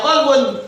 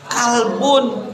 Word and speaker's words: qalbun: Ini kalau dibacanya salah, bukannya qalbun, tetapi dibacanya kalbun.